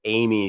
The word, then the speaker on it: Eighme: uh you know my my last name is uh is spelled e-i-g-h-m-e and that's pronounced Amy like the girl's name his last name is